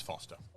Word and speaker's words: Forster: is it Foster? It's Foster. It's Foster. There you go. But no, it's spelled Forster.